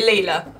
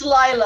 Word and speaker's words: Lila: I believe it's Lila. I believe now, after we produced an entire miraculous Zoom skit pronouncing it Leela, I have now been led to believe that it is, in fact, Lila. Sorry, gang. It's Lila because she's a Lila. The British pronunciation of Lila.